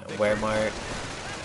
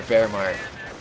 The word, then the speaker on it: Wehrmacht: The German Wehrmacht, or Wehrmacht, his W is pronounced like a V in German.